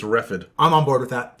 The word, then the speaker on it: Reghed: Reghead is spelled Reghed. Reghead. Yeah. Not the other thing. Yeah. So be careful. And it's going to come up a lot because all of the surrounding barriers are the Reghedian barbarians. Be careful. You know what? Maybe they pronounce it like the GH in tough. Maybe it's Refid.